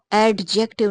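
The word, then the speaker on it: adjective: और हैप्पी चूंकि एडजेक्टिव है, एडजेक्टिव जो इसमें ये डी साइलेंट होता है, ये हम इसको एडजेक्टिव नहीं बोलेंगे, एडजेक्टिव बोलेंगे।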